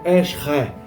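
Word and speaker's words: עזר: A pronúncia seria algo parecido com Esre.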